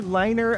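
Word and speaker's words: LNER: Middlesbrough, and with other liner electric locomotives. I saying liner because it's actually L-N-E-R. I'm sure you might pronounce that another way, but I'm calling it liner, so bear with me.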